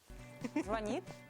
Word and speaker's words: звонит: Поставьте правильное ударение. Звонит или звонит? Звонит? Звонит. Вы согласны? Да, звонит. Звонит. Давайте Проверим. сверимся с Дмитрием Жирковым. Какой ответ он предлагает? Правильный ответ – звонит.